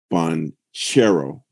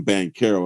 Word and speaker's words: Banchero: need to call him panchero and they said that the CH is like cherry and he said he